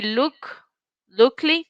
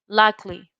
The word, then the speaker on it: luckily: We don't say lookly, we say luckily, right?